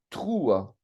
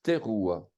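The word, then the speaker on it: תרועה: Et on a tendance à dire Yom Troua, ce qui n'est pas juste. On doit dire Teruah. On doit prononcer le E ouvert, quoi.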